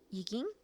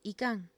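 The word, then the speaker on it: Yquem: ¿Yikin? Se pronuncia Ican.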